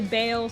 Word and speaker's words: Baal: the devastation of ball some people say Bale some say ball I say ball don't know why that's just how I